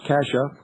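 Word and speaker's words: Cascia: Raised as a strict Roman Catholic, Keating was graduated from Cassia Hall High School, pronounced Cassia, an all-male private Catholic school. In 1962, while at Cassia Hall, Keating was the president of the student council.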